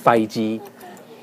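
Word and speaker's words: 筷子: Faiji. Faiji? That's how they say it in Cantonese.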